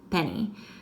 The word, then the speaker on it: penny: You've got your P at the beginning, a short E, 2 N's, and then Y, when you have more than one syllable, is going to make the sound of a long E on the end.